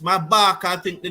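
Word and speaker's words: Maphaka: loss maaka as maaka I think his name pronounced maaka I think the name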